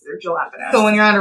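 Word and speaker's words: jalapeños: I also call jalapenos.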